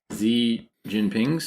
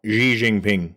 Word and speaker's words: Xi Jinping: we've already talked in this episode about me pronouncing things z jinping's Oh Xi Jinping uh effort to return to socialism so maybe